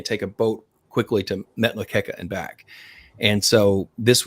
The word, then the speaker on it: Metlakatla: Yes, yeah, we went up to Ketchikan Island, Alaska, and or no, Metlakatla is how you say it, and it's really